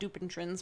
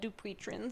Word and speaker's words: Dupuytren's: It looks like it's spelled Dupuytren's, but it's called Dupuytren's, I think. It's so stupid.